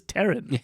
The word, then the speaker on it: Taron: And and there she meets Taron Egerton, Taron Egerton. who you forget his name is Taron, Oh, right. like the girl's name.